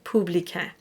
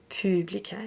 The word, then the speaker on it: publicain: And the temptation is so strong to sing publicain, but it's publicain. It's pu, not pou, publicain.